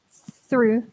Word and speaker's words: through: The pronunciation is really similar. True, through. So you really need to practice the th sound. So just use your tongue. Your tongue needs to go to the top of your teeth.